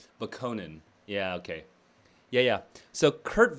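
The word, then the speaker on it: Bokonon: It's Bakonin. Yeah, okay. Yeah. So Kurt Vonnegut himself pronounces it Bakonin and Bakoninism and Bakoninist, which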